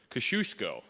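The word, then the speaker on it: Kościuszko: opening of the and this is how I say his name kashushko I looked it up in Google there's a lot of different ways to say his name that's what I can say because it's three syllables so I'm sticking with it but welcome to the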